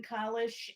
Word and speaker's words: Kalish: us know we'll we'll split the difference and make it somewhere between a long a and a short a but at any rate this puzzle is by evan collis and this is his